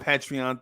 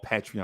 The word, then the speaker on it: Patreon: trying to do the Patreon thing. And I know I'm saying it wrong, Patreon. I know it's Patreon, right?